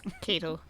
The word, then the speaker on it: Keitel: Kettle. Kettle. Harvey Kettle. It's Keitel.